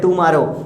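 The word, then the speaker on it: tomorrow: हम लोग बोलते हैं, लेकिन कुछ बच्चे बोलते हैं टू मारो, तो पकड़ के 2 मार देंगे. प्रोनाउंसिएशन सही करें, टू मारो नहीं टुमारो.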